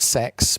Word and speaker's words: CeX: one on the official CX blog an undefined point in the future is it cex or six they like it pronounced sex but I feel slightly silly so in though I